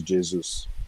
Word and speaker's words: Jesus: Like I said before, his name is Jesus. That's the correct pronunciation.